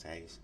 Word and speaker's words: Hayes: Hayes. Is that how you pronounce Hayes?